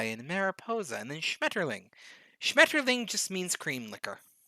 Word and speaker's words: Schmetterling: that's very straightforward um also german only sounds fresh people say it harsh like it's a shmeterling it's kind of soft and sweet and they're like schmetterling like yeah of course